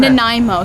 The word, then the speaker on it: Nanaimo: No, but it looks a lot like a Nanaimo square. Yeah, that's what I think it is. How do you say? What is that again? Nanaimo. So Nanaimo what is I a think it place is.